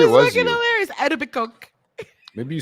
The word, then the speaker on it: Etobicoke: The funniest thing is when the Americans try to pronounce Etobicoke. Oh, and the Tobacoke. No, Etobicoke. Etobicoke.